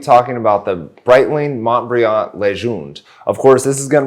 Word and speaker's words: Legende: an E at the end, but it is pronounced Legende.